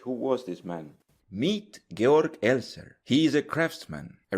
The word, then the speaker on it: Georg Elser: was this man meet gor eler he is a Craftsman a rather gor esler okay that's how you say his name he's a Craftsman okay